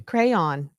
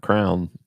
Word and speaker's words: crayon: it right oh really crayon there now you said it right crayon well it's definitely not Crown it's definitely not crown